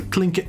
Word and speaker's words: Tlingit: You got the Heritage Center building, which is, I guess, where the Tlingit dancers, that's how you pronounce it. Starts with a T. Yeah. But it's pronounced Tlingit from my understanding. Tlingit.